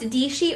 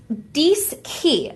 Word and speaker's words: Dischi: know how it's pronounced, it looks like it's pronounced Dishi or Dichi, but it's actually pronounced Dischi.